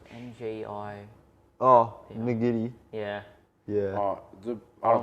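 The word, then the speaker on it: Ngidi: Najidi, It's isn't it? Nagidi.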